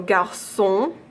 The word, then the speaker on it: garçon: There's also garçon, French for boy, so without the cedilla it would be garçon, also gibberish, and French for déçu,